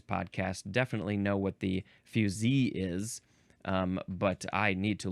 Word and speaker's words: fusee: This is spelled F-U-S-E-E, pronounced fusee.